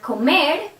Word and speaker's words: comer: For example, the verb cantar, the stress is in ar. The verb comer, stress er. Vivir, stress ir.